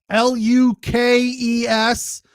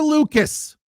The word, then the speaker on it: Lukes: But the one thing that drove me crazy all night, Nathan Lucas, Lukes. That is never Lucas. Under any circumstances, his name Lucas. It is Luke's.